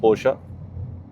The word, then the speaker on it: Porsche: हैं जो यूके में पोर्श के टॉप I know it's pronounce पोशा मुझे सारी गाड़ियों की प्रोनाउंसिएशन आती है बट मैं अपनी प्रोनाउंसिएशन बोलता हूं तो पोर्श के सबसे बड़े परफॉर्मेंस के डीलर्स हैं।